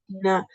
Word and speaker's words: Dina: It's spelled like Deanna, but it's Dina.